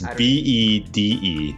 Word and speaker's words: Bede: It's Bede. How would you pronounce that?